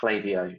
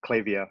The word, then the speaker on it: Klaviyo: and discussion around it, but it is definitely pronounced Klaviyo, despite how the word looks. It is absolutely pronounced Klaviyo.